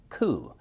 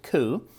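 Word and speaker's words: Cú: the great Irish hero coup and now it's spelled CU but you pronounce it cou and cou uh you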